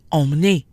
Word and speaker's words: emmener: Emmener, on the other hand, has 3 syllables. EM, ME, NER. EM is alone in its own syllable and therefore remains nasal. En.